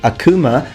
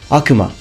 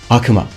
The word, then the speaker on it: Akuma: I hear a lot of people pronouncing it Akuma. The real pronunciation in Japan is Akuma. Akuma.